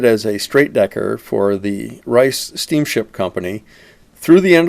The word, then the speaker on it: Rice: Rice. By the way, folks, I was chastised for pronouncing that name as Reese, and told that the family pronounced it as Rice.